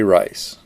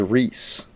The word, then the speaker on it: Rice: Rice. By the way, folks, I was chastised for pronouncing that name as Reese, and told that the family pronounced it as Rice.